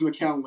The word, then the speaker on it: McCown: It's McCown, by the way, guys. But it's spelt McCown. I didn't want to confuse people. It's McCown. Yes. So, it's spelled McCown. You say McCown. Some people just can't pronounce it correctly.